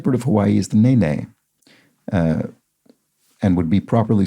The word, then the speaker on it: nene: viewers the state board of hawaii is the nene and would be properly spelled with the bar mark above the e but